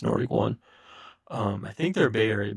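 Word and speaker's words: Nord1kOne: So, but it's pronounced Nordic One.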